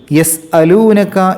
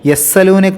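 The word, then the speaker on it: يَسۡـَٔلُونَكَ: എന്നാവരുത് പിന്നീട് 4രണ്ടാമത്തെ ആയത്തിൽ എസ്അലൂനക്ക എന്നുള്ളിടത്ത് രട് സീനി ശദ്ദുള്ളപോലെ എസ്സലൂന എന്നാവരുത് എസ് അലൂന അലൂന അനിസ അനി എന്നുള്ളത്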